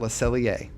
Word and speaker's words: Le Cellier: And that tradition is at Le Cellier.